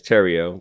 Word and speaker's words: Theriot: So, outside of South Louisiana, uh my last name is Tero, but you spell it T H E R I O T.